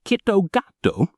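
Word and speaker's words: キットカット: Its name, pronounced Kitogato, sounds remarkably similar to the Japanese phrase Kitogatsu, which translates to "you will surely win."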